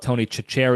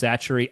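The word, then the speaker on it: Tony Chachere: we I call it Tony chacher because that's how it's spelled it's spelled like an Italian guy Tony chacher but I guess it's pronounced satchery I don't know Tony satcher I don't even know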